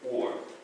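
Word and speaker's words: אור: And the reason why we're not pronouncing, is the reason why this is not akur is because these are two vowels.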